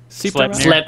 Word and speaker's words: Sleipnir: Sleipnir.